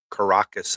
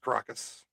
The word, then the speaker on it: Caracas: But multiple explosions there in the capital of Venezuela, Caracas, I believe is how you say that, isn't it, Ronnie? yes, Caracas, I believe.